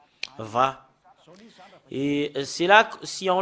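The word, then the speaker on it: וה: Et sur cette partie-là, c'est Va. Va.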